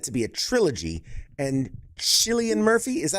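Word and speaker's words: Cillian: And Chileian Murphy, is that how you pronounce it? Chillian. Silian. I say I say Killian. Killian. We don't pronounce this right here.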